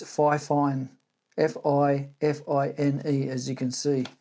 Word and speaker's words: FIFINE: There's no fine in the beginning. It's FIFINE, F-I-F-I-N-E, as you can see.